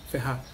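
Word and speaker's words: Ferrer: Pronuncia o sobrenome dela? Isso. Ferrar.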